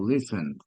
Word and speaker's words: listened: en otros casos es como una D, como listened, all right?